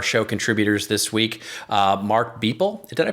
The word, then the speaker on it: Boepple: Mark Beeple. Did I pronounce his name right? Beppel. Did I pronounce Beppel. Mark's name Yep. right? Beppel? Like Pepple? Yep. Like Pebble. Yep. Like Mark Beppel.